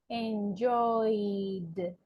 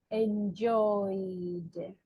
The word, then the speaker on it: enjoyed: a good verb too if I say Enjoy what is the last sound enjoy it's like a vowel sound right enjoy and in which category do I have the vowel sound third second in the second group right so we are going to say enjoyed enjoyed okay so